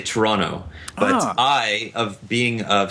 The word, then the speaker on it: Toronto: episode and he said he cringed every time I pronounced the second T in Toronto so but you just pronounced it Toronto as well so is there a dialect thing that I'm not that I don't know about what's happening no we do not say Toronto we say Toronto but I of being